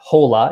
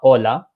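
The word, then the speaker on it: hola: know nothing about pronunciation because he said holla and not Ola so they immediately you know okay they don't know about pronunciation they don't know that h's are silent cuz holla is not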